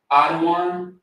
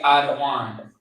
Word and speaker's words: Adawan: This is how you say Adawan. Adawan. So you got the da, and the wan.